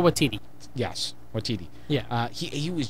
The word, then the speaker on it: Waititi: It had great comedic beats, and then it was like I know I'm going Watiki. I can't even pronounce. Oh, Taika Waititi.